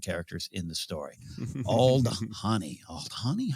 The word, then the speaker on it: Aldhani: We'll wait to see how that's mispronounced by different characters in the story. Aldhani. Aldhani?